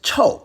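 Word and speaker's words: 臭: The final review character is chou, fourth tone, stinky, woo!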